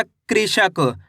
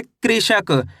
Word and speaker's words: कृषक: क में ऋ की मात्रा है कृ श क। तो मिलकर बन जाएगा कृषक। कैसे पढ़ेंगे? कृषक।